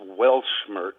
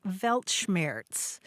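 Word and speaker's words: Weltschmerz: But the word was welmers, I think, is how you would say it. Yeah. Yeah. You're talking about the word Velmers.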